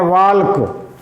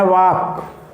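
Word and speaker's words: walk: अंग्रेजी में आप लिखते हैं वाल्क और पढ़ते हैं वाक।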